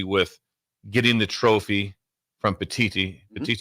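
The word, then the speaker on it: Petitti: I say getting Go with Petiti. Yeah, not Petiti. I still was right. Petiti. Can you just say Petiti? Petiti. Yeah, there you go.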